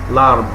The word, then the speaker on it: l'arbre: L'arbre. Pronounced together.